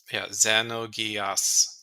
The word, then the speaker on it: Xenogears: a pronunciation guide, and it's not Z, it's Ze. It's Xenogears. So not Xenogears, Xenogears.